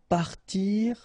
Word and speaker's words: parti: So I, partir, will become parti. Rire, so IRE, will become ri. Okay, and then the IT, phonetically you pronounce I because final T is not pronounced, but still.